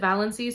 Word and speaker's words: Valancy: We have a main character named Valancy, or Valancy. Everyone pronounces her name differently, but the audiobook narrator pronounced it Valancy, so I'm just going off of that.